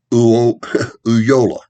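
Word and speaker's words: Ulloa: the first spanish governor was a man by the name of antonio yola u l l o a that double l quite often is pronounced as a y okay um so there's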